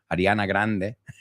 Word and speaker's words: Ariana Grande: it to you it's Ariana Grande I'm gonna pronounce it as as we do Ariana Grande very different right Ariana Grande Ariana Grande